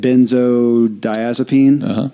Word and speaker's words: benzodiazepine: Benzodiazepine.